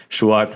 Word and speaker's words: Sjoerd: So I asked Schwart how to pronounce his name before that.